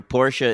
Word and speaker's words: Porsche: say por super gay no that's actually not true Porsche is just the pronunciation of that I know I'm just